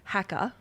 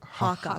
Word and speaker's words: haka: I think he called it the hacker. The hacker. Hacker. But how do you say it? Harker.